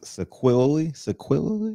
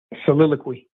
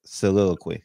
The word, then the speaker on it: soliloquy: Sequilly? What the fuck? How do you say that word? So say it. Soliloquy. So I said I had it backwards. Soliloquy. There we go.